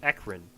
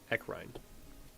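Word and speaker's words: Ecrine: town and as you approach the town of ekin echine sorry I pronounced it wrong echine uh it is very small it is basically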